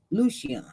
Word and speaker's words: Lucian: again Lucy on Lucian Lucian because soldier girl she she helped me she said this is how you pronounce this name Lucian Lucian okay Lucian there it is